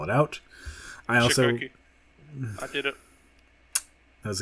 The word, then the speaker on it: Cichocki: That's at DA Chikoki, but nobody knows how to pronounce Chikoki, so I just spell it out. Chikoki.